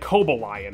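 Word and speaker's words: Cobalion: yeah but like also caballian is made of cobalt and they pronounce it coba lion apparently so like you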